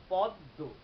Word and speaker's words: পদ্ম: পদ্ম, একটু নাকে বাজবে, পদ্ম, পদ্ম ফুল। তাহলে আমরা বুঝতে পারলাম জফলা থাকলে তার আগের বর্ণটি ওকার রূপ ধারণ করে আর পরবর্তী বর্ণটি বৃত্ত উচ্চারণ হয়, পদ্ম।